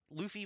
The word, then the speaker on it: Luffy: boring um monkey deffy or I always it's Luffy right it's Luffy Monkey De I always I always say it